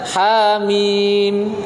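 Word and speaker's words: حم: dua minimnya baru enam Allah bacanya Hamin tidak boleh dibaca khamim nggak Hai atoto ha-na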